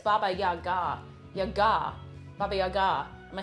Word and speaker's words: Baba Yaga: Also, the accent on her name is in the last... Oh, it's Baba Yaga. So it's not Baba Yaga, it's Baba Yaga.